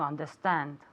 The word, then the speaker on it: understand: To understand. Exactly, okay? To understand, all right? Understand with the D at the end, always making sure that you pronounce the D at the end.